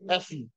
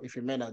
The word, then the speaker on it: Ifemena: He said, he called me Effie. Okay. He called me Effie. Effy. Okay. That's the way they pronounce my name. Instead of Ifemena, they called me Effie.